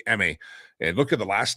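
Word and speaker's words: Aime: And just know that there's a lot of kids like Emmy. That's how you pronounce that name, A-I-M-E, Emmy.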